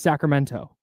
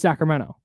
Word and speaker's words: Sacramento: says Sacramento okay just Sacramento no that's true and she the way she speaks is proper so she wants to pronounce the T and she had to train herself to not say the T that's wild yeah had